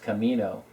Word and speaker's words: Anamak: Actually, he says it's pronounced Camino, like El Camino, the car.